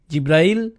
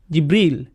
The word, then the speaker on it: জিব্রাইল: জিব্রিল, জিব্রাইল, জিব্রাইল, জিব্রাইল, জিব্রিল, এই 5 ভাবে তার নাম উচ্চারণ করা হয়।